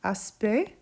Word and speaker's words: aspect: You could use a word like aspect, silent C, silent T, right?